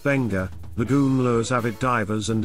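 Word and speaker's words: Beqa: 144 kilometers southeast of Nadi off-pacific Harbor because pronounced benga the goomblos Avid divers and Adventure Seekers many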